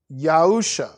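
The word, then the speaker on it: יהושע: the word joshua in the old testament it's pronounced yahusha in the old testament it says joshua in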